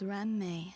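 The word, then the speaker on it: Ruan Mei: When saying my name, please don't run the syllables together. I've been saying Ruan May because this line where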